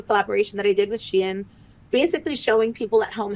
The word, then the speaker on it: Shein: But you've even had partnerships with like Shein, and it is Shein. That's how you say it.